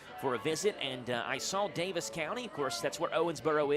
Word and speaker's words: Davis County: Davies I do know the people there who are from Davis County pronounce it Davis County the two to Beck